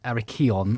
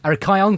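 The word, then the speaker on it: Arrhichion: There was a very famous chap called Aricon, I believe. Am I Have I spelled that pronounce? I pronounced that correctly about just about. That's No, that's Arkion.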